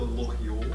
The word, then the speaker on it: LoRa IoT: In France, they call it the Loriot. Oh, there you go. The Germans, or in German Switzerland, they pronounce it Loriot.